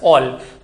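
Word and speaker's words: -ol: है इसका ऑल suffix ऑल ओ एल एंड इट is pronounced as ऑल तो hydroxy is द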